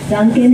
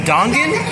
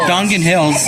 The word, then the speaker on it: Dongan: Duncan Hill.